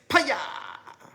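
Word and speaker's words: Piya: up as a kid, it was like a cross between pow and haya. So that's why I say paya, and I spell it P-I, like pi, like 3.14, and then ya, like haya, you know?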